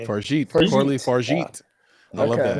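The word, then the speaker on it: Fargeat: The substance, Coralie Farget. No, no. This is no. I think the G is a J sound, so this would be a Farjit. Farjit.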